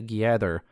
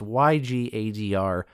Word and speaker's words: Ygadr: According to Adiran dialects, the letter Y is pronounced like E, and then it would be Gadr, which is just Gather, as far as I can tell. So Ygadr is, I suppose, how this name is pronounced.